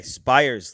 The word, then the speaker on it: Spiers: Carson Spires. Okay, Spires, like Mike Fires.